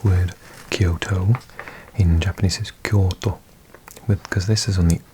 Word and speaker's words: Kyoto: So if I say for example you if I was saying this word Kyoto in Japanese is Kyoto because this is on the O so it makes the O longer.